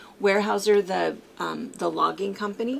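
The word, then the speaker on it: Weyerhaeuser: um uh uh way warehouser warehouser warehouser that's how you say it warehouser the um the Logging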